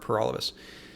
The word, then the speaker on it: Paralovos: thank you for watching my name is pur all of us that rhymes with for all of us I'm the People's Party